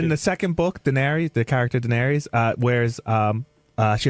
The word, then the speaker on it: Daenerys: How do you pronounce it? Daenerys.